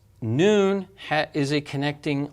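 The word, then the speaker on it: نون: the alphabet down okay this letter is called noon and that's the name of the letter you don't pronounce it that way like we say W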